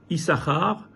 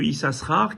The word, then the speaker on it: Issachar: Issachar s'écrit en réalité Issachar. Il y a deux chines. On n'en prononce qu'un, mais il y en a deux.